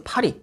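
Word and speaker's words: Paris: 발음이 현지 발음은 파리 약간 이렇게 되거든요. 아마 프랑스 파리 하면은 많은 분들이 이런 유럽 여행 하면은 바로 떠오르실 수 있는 그런 관광지라고 생각이 드는데요.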